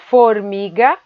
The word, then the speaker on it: formiga: Formiga, formiga, formiga. A sílaba mi é a mais forte e ela é a penúltima de trás para frente.